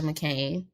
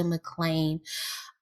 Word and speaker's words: McClain: yeah let's talk about Elisha McCain or I'm sorry McClain let me say his name right Elisha McClain um he was a